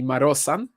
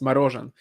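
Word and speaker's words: Marozsán: name by the way it's Z and S are the other way round if it was spelled like you wrote it it would be marosan whereas it's Maran um it's uh the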